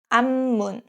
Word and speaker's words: 앞문: This case, 앞 is pronounced as 암. So it's 암문, 암문.